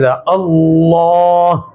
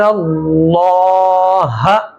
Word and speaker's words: اللہ: یہاں پر موٹا ہوگا، پر ہوگا۔ اس کو پڑھیں گے ہم ان اللہ، تو اللہ کا لام کیا کریں گے؟ موٹا کریں گے۔ ہجے کریں گے اس